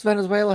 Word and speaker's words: Venezuela: How many syllables does Venezuela have in it again? Venezuela. Like he found two extra syllables in that word.